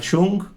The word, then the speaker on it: Jung: de vista y de cómo lo aplicaba Carl Jung, está bien pronunciado, Jung, ¿verdad?